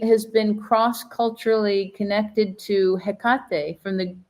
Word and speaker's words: Hecate: been cross-culturally connected to Hecate from the I don't know if you'd pronounce it differently, Hecate, wouldn't you say? Yes, that's how I pronounce it, but I pronounce everything wrong.